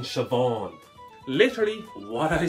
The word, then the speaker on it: Siobhan: as well you ready see on oh okay that's the most unir name ever it's as Irish as Simon cow buddy oh Christ can you just spell it please okay dummy s i o b h a n you mean shobon literally what I say